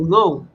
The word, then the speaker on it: know: Y uno dice, uno se pregunta y ve eso en inglés, el primer cho que uno tiene por qué se escribe con K si pronuncia to know, conocer.